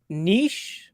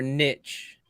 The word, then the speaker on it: niche: Is it niche or niche? I don't know. You're talking to the wrong guy. English is my second language. I've always said the French pronunciation of niche.